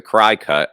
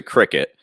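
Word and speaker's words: Cricut: So you using like now some people, I've heard them say it's a cry cut. I think it's a cricket. Is the way to pronounce it, and Cameo, which is vinyl cutting machines.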